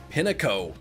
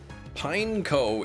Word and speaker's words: Pineco: When I was younger, like a little kid, you thought it was Pinnico. Well, there you go. Pineco is like he's a pine cone, but they literally looks like a pine cone, and they just took the ne off the end.